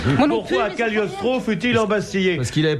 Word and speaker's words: Cagliostro: On prononce Cagliostro.